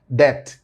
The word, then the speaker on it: debt: Debt, you write debt, but you know B is mute.